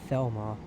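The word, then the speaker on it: Falmer: And Falmouth is pronounced as Felmar.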